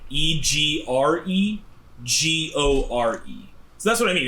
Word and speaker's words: egregore: So it's like Egregore.